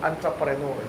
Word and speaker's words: entrepreneur: Ang tawag dito entrepreneur. Ang spelling e pero ang pronunciation a. Entrepreneur.